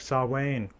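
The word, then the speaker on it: Samhain: behind it and that includes learning how to pronounce things properly like saw Wayne well I mean sure at least nobody would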